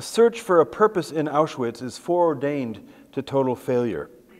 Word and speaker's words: Auschwitz: And by its sheer magnitude, Auschwitz, which is the German pronunciation, was the most harrowing of the camps.